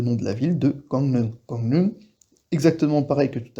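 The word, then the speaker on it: 강릉: Comme par exemple le nom de la ville de Gangneung.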